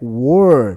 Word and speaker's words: were: No pronome interrogativo eu digo where. Essa pronúncia é where. Mas o outro é were.